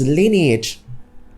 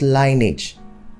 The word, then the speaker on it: lineage: the next word is lineage lineage not lining and not lineage if you say lineage you know that the word contains three syllables if you say lining